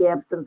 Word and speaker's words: absence: And I say it's spelled just like absence. We tend those of us who are older use the terminology. This was absence seizures were discovered by the French doctors, and we use their pronunciation.